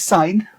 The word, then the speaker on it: sin: Okay, it's actually pronounced as sine, but we write it as sin, which is a short form of what it actually represents.